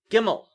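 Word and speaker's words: גימל: Gimel is a beged kefet letter, but pretty much nobody makes a difference. It's a hard G. So G, right? That's Gimel.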